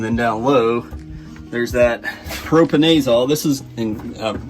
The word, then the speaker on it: propiconazole: propionate all it's how I know to a pronounce it I'm from West Virginia don't judge me propiconazole that look like what you actually call it